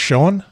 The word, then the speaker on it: Schoen: Okay, and our next surprise guest is it pronounced Schoen? Yes, how you doing?